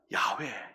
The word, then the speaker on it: 야훼: 예를 들면은 우리가 잘 아는 야훼, 여호와. 원래 여호와라는 말씀이 히브리어 말로 야훼라는 발음이 정확한데 우리는 야훼를 이제 개역개정 성경에서 여호와로 번역을 했어요.